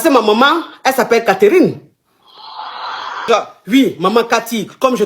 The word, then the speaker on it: Catherine: Et quand on veut dire tout le nom, tout le prénom, on dit Catherine. Le E ne se prononce pas. Catherine.